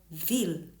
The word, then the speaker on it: ville: But all French words written with double L are not pronounced with the sound y, like ville, town.